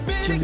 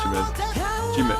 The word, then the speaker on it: Jimin: That's Jimmy, Yeah. correct? Say it right. 말을 안 해도 변해날 거야 너만 있다면 다내 집이 될 거야 Yeah, that's Jimin.